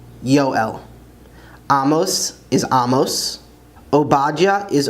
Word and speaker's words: יואל: As is often the case, the J's in English are actually yuds in Hebrew, so Joel is actually Yoel, Yoel.